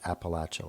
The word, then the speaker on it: Appalachia: In that, the people who are from that region more often pronounce it Appalachia, like I'm going to throw an apple at you.